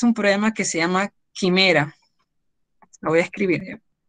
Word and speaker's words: Chimera: programa que se llama Quimera. Lo voy a escribir, ¿eh? Se escribe Chimera. Así se llama el programa, Quimera.